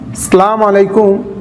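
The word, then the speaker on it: السلام عليكم: শুদ্ধভাবে অক্ষরগুলি উচ্চারণ করা বিশেষ করে সালামের প্রথম যে অক্ষরটি আছে হামজা এবং শেষের যে মিম অক্ষরটি আছে এগুলোর উচ্চারণ খুব সুস্পষ্টভাবে দেওয়ার চেষ্টা করা আসসালামু আলাইকুম আসসালামু আলাইকুম আসসালামু আলাইকুম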